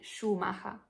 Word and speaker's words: Schumacher: Por ejemplo, creo que a lo mejor muchos de ustedes conocen el apellido Schumacher, que bueno, así se pronuncia bien, Schumacher.